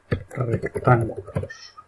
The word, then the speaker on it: rectángulos: Aquí, por ejemplo, será rectángulos. Acento en la A.